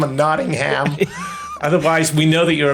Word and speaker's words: Nottingham: here's a little tip we don't pronounce the h so it's Nottingham not you you you British people Nottingham and Birmingham and things like that so we don't see the Birmingham and Nottingham otherwise we know that